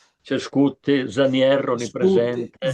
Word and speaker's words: Zanier: spiegazione forse storica sul perché viene pronunciato Zanier. Ai tempi della burocrazia austriaca i coloro che parlavano tedesco ed erano nei gangli fondamentali della dell'amministrazione tendevano a pronunciare Zanier. Sier e non Zanier come è naturale.